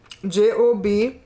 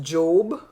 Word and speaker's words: Job: You notice in the Bible, Job is spelled is pronounced Job, but Job in real life is job.